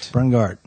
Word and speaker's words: Brungardt: Did I say it right? Brungardt. Okay. Really exercise the G.